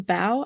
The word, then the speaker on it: bow: locations the doom on the bow or the bow I think it's pronounced for for ships uh and then part